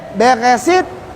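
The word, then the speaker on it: בראשית: Ini bacanya Beresit, bara.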